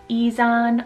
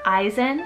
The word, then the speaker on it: Izan: is isan spelled i-z-a-n you can do is on or eisen for this pronunciation there's quite a few different ways and it's a name